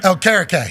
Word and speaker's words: Okereke: Okereke? Okereke.